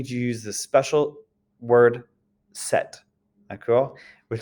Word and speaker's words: cet: Well, this friend, this is pronounced set in the feminine, cet ami.